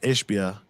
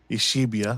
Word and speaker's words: Ishbia: yesterday with Matt ishbia which needs to learn how to say his name ishibia that's what he calls him oh wow I'm like watching the show behind me but it's sort of like dude you're saying it wrong you're saying it